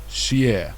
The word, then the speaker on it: sé: Sé. Sé. Sé. Sé. So this E with the accent on it is a Y sound, is a Y vowel, not E.